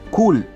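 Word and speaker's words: chuwl: O sea, pecado, ya que la palabra formado viene de la palabra hebrea que se pronuncia kul, que se escribe C-H-U-W-L.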